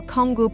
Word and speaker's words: Canggu: Many tourists call Canggu, pronounced Canggu, the new Seminyak, and you could say the same applies to the silvery, sun-kissed beaches.